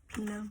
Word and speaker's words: Pino: Pino? Is that his name? How's how you pronounce his name?